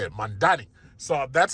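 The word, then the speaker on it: Mamdani: the wall, and now you're facing Mandani.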